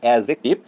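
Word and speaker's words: adjective: Number 1 noun, number 2 pronoun, number 3 হচ্ছে অ্যাডজেক্টিভ, একটু উচ্চারণটা ভালো করে, এটা আমরা ভুল করব না, অ্যাডজেক্টিভ নয়, ডি এর উচ্চারণটা হবে না, অ্যাডজেক্টিভ, verb, adverb, preposition, conjunction, interjection.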